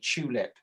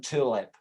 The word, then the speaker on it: tulip: It's so you push your lips together and say tulip rather than tulip, which he's sort of saying like tulips.